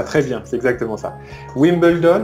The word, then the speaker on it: Wimbledon: bien c'est exactement ça wimbledon on le prononce comme en anglais et puis us open